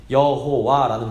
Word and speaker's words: 여호와: 그래서 이 여호와라는 발음은 후대 사람들이 이 거룩한 4글자 YHWH에 그 주님이라는 뜻이 있는 아도나이의 모음을 따다가, 그러니까 아오아를 따다가 이렇게 붙인 겁니다. 그래서 여호와라는 발음이 된 겁니다.